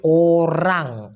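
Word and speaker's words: orang: আমরা অনেকে গুলিয়ে ফেলি এটা হচ্ছে ও আর এ এন জি উচ্চারণটা হবে ওরাং ওরাং মানে লোক অথবা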